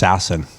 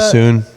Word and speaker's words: Sasson: Because I always thought it was just Sasson. Max Sasson. Oh, you know what's funny about that? Sassoon or whatever.